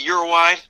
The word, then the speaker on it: Uruguay: Is it Uruguay? It's funny. It's like if you speak to someone who's Hispanic and from the area, they'll say Uruguay. But I always said Uruguay, so I say both.